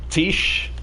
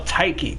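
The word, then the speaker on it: Tiche: Shields but to be fair I did have Tish no no taiki taiki that's actually the way it's pronounced because as she comes from the name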